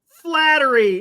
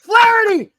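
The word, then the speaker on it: Flaherty: you're gonna say that Jack flattery I said it wrong FL FL flarity flarity Jack flare Jack flarity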